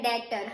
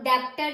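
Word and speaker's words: debtor: उसके बाद देखो डेटर अब डेटर में देखो स्पेलिंग में बी भी है बट हमें साउंड में क्या आ रहा है डेटर हम डेप्टर नहीं बोलते बोलते हैं हम डेटर बोलते हैं तो हम बनाएंगे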